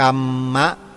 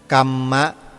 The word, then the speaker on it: กรรม: เสียง อีก อย่าง นึง ออก เสียง ว่า กรรมมะ เห็น มั้ย ฮะ กรรมะ นะ ไม่ ใช่ กรรม เฉย ๆ ออก เสียง เป็น บาลี แท้ ๆ เนี่ จะ กรรมะ เลย กรมมะ กัมมัง กัมโบ นะ